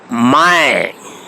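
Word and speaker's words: मैं: lesson in spoken hindi my mind please note the pronunciation because if it is transliterated in english it will be read as main or mean but my mind means i for first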